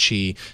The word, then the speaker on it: Qi: who don't know what I just say Qi but I think it's pronounced Chi it's basically wireless charging